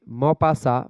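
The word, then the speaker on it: Maupassant: मोपासा बताएं गाय डे मोपासा मोपासा या म मोपा सेंट पूरा चकि होगा नहीं चकि साइलेंट है ठीक है यहां पर टी भी साइलेंट है तो जैसे कि आपको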